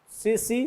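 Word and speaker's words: tsetse: वो सीसी मक्खी है, वाहक सीसी फ्लाई, मतलब सीसी मक्खी, यहाँ टी साइलेंट है तो सीसी मक्खी इसकी वाहक है, बात को समझे।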